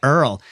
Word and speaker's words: URL: Wait, it's pronounced Earl? People pronounce it Earl like... I do. Earl, like the show.